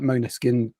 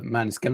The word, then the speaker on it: Måneskin: Yeah, I prefer Måneskin. I think it is Måneskin is the way it's supposed to be.